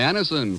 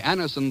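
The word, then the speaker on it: Anacin: X when we ask you to try Anison for the relief of pain due to a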